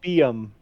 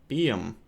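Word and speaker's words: Buium: My guess would be probably It's pronounced Bium. Bium.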